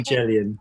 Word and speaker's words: Evangelion: It's a soft G. It should be Jellion. People tend to go with Evangelion, but there are some people who prefer the correct pronunciation.